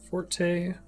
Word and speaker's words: forte: being from three parts forte blade and a tip that may be pronounced fort there's the mold jig